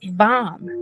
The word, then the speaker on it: vam: We're going to move on to the sound VAM. That's spelled V-A-M. Okay. And remember to pronounce the V, ah, V, V, V as in victory.